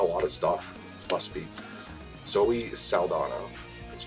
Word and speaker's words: Zoe Saldana: Zoe Saldana.